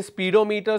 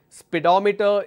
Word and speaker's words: speedometer: this as pedometer so if you say speedometer speedometer that's wrong and incorrect pronunciation speedometer is the correct pronunciation there is another word